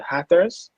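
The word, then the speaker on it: Hatters: fans the the um their nickname is rather the hackers that's how you pronounce it yeah correct give me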